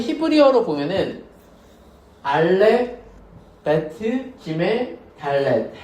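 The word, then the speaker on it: דלת: 달렛. 달렛은 발음이 뭘까?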